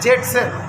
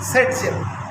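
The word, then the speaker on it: Зайцев: इसको फाइंड किया था अलेक्जेंडर जेटसेफ, और लिखते हैं जेटसेफ। प्रोनाउंसिएशन करते हैं सेट शेप।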